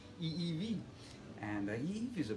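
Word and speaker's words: ʻiʻiwi: favorite forest birds it's called a evk and it's like pronounced just like that Evy and the he is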